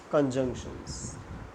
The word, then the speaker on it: conjunctions: Let us now start with the conjunctions. Conjunctions. This word is familiar. See the pronunciation. Many students make mistake conjunction, but junk, the word in between is J-U-N-C, junk. So C, that is pronounced as K.